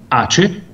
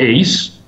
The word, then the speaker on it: ACE: Now, one of these products was ACE, or ACE, if you want to pronounce it the English way.